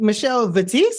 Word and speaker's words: Michelle Vitesse: excited for our Our Guest today we have Michelle batis is that right it's Michelle yeah that's the correct pronunciation good job good job I should have